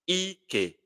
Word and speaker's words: Ike: It sounds Ike. Ike. Ike. That is Elu Allah.